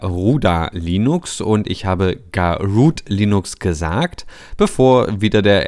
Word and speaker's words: Garuda: wie dem auch sei es wird gar oder geschrieben es ist der adler wird aber gar ruth ausgesprochen so und damit haben